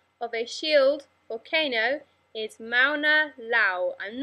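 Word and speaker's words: Mauna Loa: of volcano example of a shield volcano is Mauna Lao I'm not sure how to pronounce that but I think it's Mauna Lao on the Hawaiian Islands and a shield volcano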